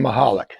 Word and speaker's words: Mahalik: Yeah, us Chicago people, we know how to pronounce these Polish names. With that one, you just take out the C.